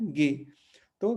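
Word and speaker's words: gato: तो अगेन यहाँ पे हम जो है अंग्रेजी में इसको जी पढ़ते हैं, लेकिन यहाँ पे ये जी नहीं है, यहाँ पे क्या हो जाएगा? ग। लेकिन उसका उच्चारण कैसे करते हैं? गे, है ना, जैसे मैंने यहाँ देवनागरी में लिखा है गे। तो गे, गे से क्या बना? गातु, गातु, है ना, गातु।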